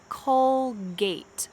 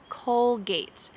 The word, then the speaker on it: Colgate: say j gillette colgate now this one has a true g sound colgate colgate and the final one